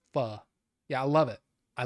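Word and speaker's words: phở: Um, yeah, pho, pho, but it's pronounced pho.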